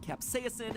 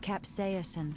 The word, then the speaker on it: capsaicin: about is a typical capsaicin and yes i'm pronouncing it capsaicin because that's how miriam webster told me to pronounce it even though i have never once heard anyone in my life pronounce it that way capsaicin so if you don't like it take it